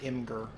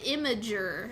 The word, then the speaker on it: Imgur: a lot of people pronounce it Imgur. I don't. I don't What? think that's correct, but a lot of people do. I just assumed that it's like a Web 2.0 abbreviated Imager, like Yeah, like Tumblr I think it's is Imager.